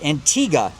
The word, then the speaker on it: Antigua: Antigga.